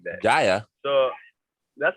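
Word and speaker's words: Kjær: Jaya, and Kier? then Kier. The Denmark guy? Commentator says Kaya or Jaya or something like that. Jaya. So that's how he pronounces it.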